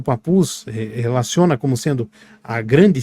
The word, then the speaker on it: Papus: umas horas atrás mas a pronúncia do nome dele é papus então ele demonstra Exatamente